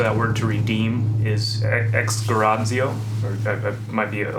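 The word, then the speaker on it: ἐξαγοράζω: It initially, it's a Greek word. That's not how it's pronounced, though. It's exgarazio, and it means to redeem.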